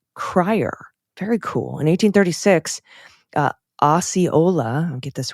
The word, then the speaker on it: Osceola: It's pronounced Osceola, not Ocella, Osceola.